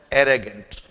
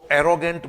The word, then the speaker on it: arrogant: जैसा कि आज का हमारा शब्द है एरेगेंट। पहले तो इसके प्रोनाउंसिएशन पे ध्यान दीजिए। अधिकांश विद्यार्थी इसको एरोगेंट बोलते हैं। इट्स नॉट एरोगेंट, इट्स एरेगेंट।